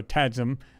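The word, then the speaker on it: TAGSAM: acquisition mechanism or the tad scan tad sam i'm sorry or tadsum depending how you want to pronounce it is visible in the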